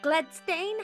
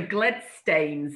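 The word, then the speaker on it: Gledstanes: but that's not it both are fine so glen stains is sort of the old scott's pronunciation and it's where his name comes from gladstone is just the anglicized sort of modern pronunciation of it okay i'm gonna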